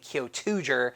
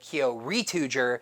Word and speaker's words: Kyoryuger: the nickname Kyoryuger, well, a lot of people are calling it Kyotuger, but I call it Kyoryuger because the first one doesn't match the syllables.